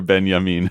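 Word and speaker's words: Benjamin: Aura maybe as as as Walter Benyamin would would say wow even did the benam like did it like didn't pronounce the J like wow I am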